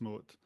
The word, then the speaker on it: Mouat: I was actually going to ask you at the end, how you pronounce your surname. I say Moat.